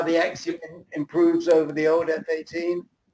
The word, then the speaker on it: Axumin: The Axumin, which is the one we were just talking about, I think you asked about, Bill, it's spelled AXUMIN, is more advanced F-18.